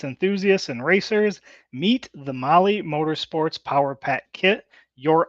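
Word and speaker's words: Mahle: all you podcast listeners Molly is spelled m ahle e all right I know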